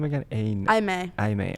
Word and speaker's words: Imei: what's your name again I may I may I may it's spelled like Amy but it's IMEI this is her what